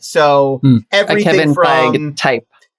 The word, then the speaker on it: Feige: Is it Feige or Feige? Feige. I believe it's Feige. I believe you say the E on I'm pronouncing the E. Feige. I'm giving him credit for the E.